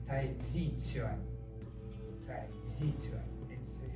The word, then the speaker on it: Tai Chi Chuan: This Tai Chi, it's wrong pronunciation, the Americans love it, but it's different. It's Tai Chi Chuan.